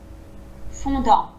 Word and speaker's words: fondant: Fondant. Fondant, Ouais, alors le on, vraiment fondant, plat. fondant, Fondant, sans prononcer le N du on.